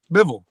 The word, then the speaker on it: Bivol: Like the dude that I can't pronounce the guy's name, but the one that beat Canelo. With a B. Bivol.